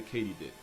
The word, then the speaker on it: katydid: Also, they're not actually crickets, they're a subfamily of the katydid, which is apparently how you pronounce it.